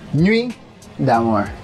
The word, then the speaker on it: Nuit D'Amore: Italian did I butchered that just know the pronunciation actually no he was pretty good it's a normally damn or nuit d'amour yes I thought it was not damaged I